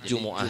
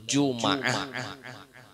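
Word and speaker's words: جمعة: Jadi Jumu'ah itu boleh 3 cara membacanya. Boleh Jumu'ah, boleh Juma'ah. Kalau pangkena ada orang menyambat Juma'at itu boleh. Boleh Jum'ah, mimnya mati, mimnya baris fathah atau mimnya baris dhammah.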